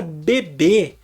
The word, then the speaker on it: bebê: recebe acento deu PR você entender a palavra bebê tem acento o acento É no último é fica bebê então a gente lê com o acento lá já sabe que tem que pronunciar bebê quando a gente vê a mesma estrutura sem assento a a gente já pensa Opa se fosse bebê teria acento então a pronúncia dessa é bebe entendeu E aí eh